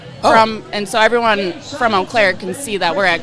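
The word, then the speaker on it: Eau Claire: Yeah, we're posting that we're here from And so everyone from Oaklair can see that we're at Quad Cities.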